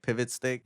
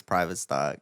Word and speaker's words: PVTSTCK: what is Pivot stick that's what people call Private Stock when they walk in cuz that's crazy cuz they see how it's spelled they're like oh yeah I've been the pivot stick I'm like it's Private Stock literacy rates are falling